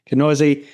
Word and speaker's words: Kneuse: if you look me up on LinkedIn, Kenoise, um, I'm always active there. All right. And Kenoise is spelled K ne U S E. That's the name, lovely name that I mispronounced at the beginning. Kenoise.